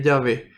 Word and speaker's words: Yahvé: El hebreo es una lengua que no posee vocales, entonces se escribe así. Luego, al colocarle las vocales, este tetragrama se va a leer Yahvé.